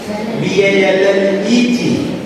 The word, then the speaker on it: ballet: B-A-L-L-E-T. No. No. Ballet. That's right. T is silent.